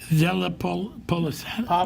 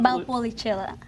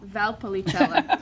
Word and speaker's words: Valpolicella: How do you pronounce that again? Carolina? Valpolicella. Della Polisana? Valpolicella. Might say who? Valpolicella.